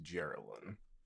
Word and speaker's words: Geraldine: She really said Geraldine. He's like, it's pronounced Geraldine.